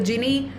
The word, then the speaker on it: Gini: to ratify anything the genie index or the genie coefficient is a some people also pronounce it as guinea it's a proper noun